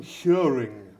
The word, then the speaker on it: Hjørring: We're going to start off, we'll get the horrible pronunciations out of the way first. Yeah. Right? Okay, so you are from Hjørring. Hjørring, yeah.